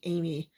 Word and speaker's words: Amy: of Dao and Amy yes is actually Amy he has a assist Army so actually has pronounced Amy it was confusing cuz he pronounced it as Army in Japanese don't only say Amy with a Japanese accent that just made me confused so it was my mistake from incorrectly call her Army from my review